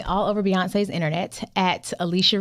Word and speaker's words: Alechia: Listen, you can find me all over Beyonce's internet at Alicia, and it's spelled ALECHIA, last name.